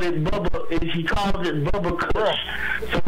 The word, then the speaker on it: Bubba Kush: so he called it Bubba he calls it Bubba Kush so it's pronounced bu U VB a Kush not bubble it's not a mispronunciation or misunderstanding okay but